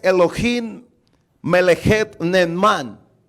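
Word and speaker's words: אלוהים: mente quiere decir bueno lo voy a tratar de pronunciar en el idioma hebreo es elohim me alejé de net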